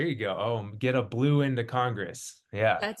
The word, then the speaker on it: Blouin: So the the way I pronounce it is blue in like the which is great. Blue like like a Democrat uh or like blue, right? Blue.